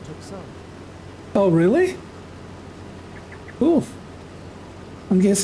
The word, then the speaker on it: Tucson: Far underscore evil underscore D 1974 said, it's actually pronounced Tucson.